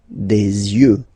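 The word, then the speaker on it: yeux: you. U you. Okay. Don't pronounce the final X as usual.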